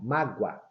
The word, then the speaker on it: mágoa: Repare, quando eu pronuncio, quando eu falo mágoa, mágoa, esse O, ele assume o som do U, mágoa.